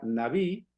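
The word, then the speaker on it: נביא: En hebreo la palabra profeta se pronuncia naví, que significa fluir o hablar, sobre todo hablar de parte de alguien, hablar de parte de otro.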